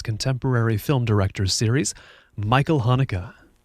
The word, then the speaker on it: Haneke: academy awards taught us has more than one pronunciation which one do you go for uh it's supposed to be hanukkah hanukkah okay and and as for the first name um michael okay the stan standard michael hanukkah okay because i heard a few different pronunciations